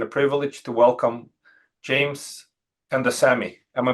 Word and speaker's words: Kandasamy: Mike Zlatnik, and today it is my pleasure and a privilege to welcome James Kandasamy. Am I pronouncing it correctly? Absolutely. Kandasamy, yes. Kandasamy.